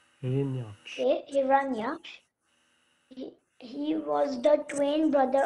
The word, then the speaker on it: Hiranya: As he lifted the earth up, he was attacked by a very vicious demon named Hiranya. Wait, how do you pronounce it? Hiranya. Okay, Hiranya.